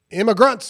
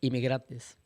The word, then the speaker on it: inmigrantes: But they already have done crimes because they're illegal immigrantes. How do you say immigrant in Spanish? Inmigrantes. I was close.